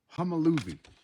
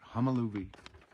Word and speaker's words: Homolovi: Homolovi. That's how you pronounce it. Homolovi.